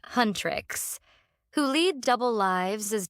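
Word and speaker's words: HUNTR/X: K-pop Demon Hunters follows a K-pop girl group called Hunterx, pronounced Hunrix, who lead double lives as demon hunters.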